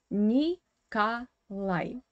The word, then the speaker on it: Николай: But here again, you need to pay attention to the Russian phonetics as usual, because this O is in unstressed weak position without stress, and it should be pronounced as A. Николай.